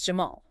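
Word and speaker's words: جمل: Camille is Jamal.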